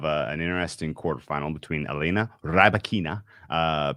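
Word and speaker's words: Rybakina: interesting quarterfinal between elena rabakina some people call her rabacana i think that's a very unflattering pronunciation ribokina much more uh much more pleasant she's taking on aaliyah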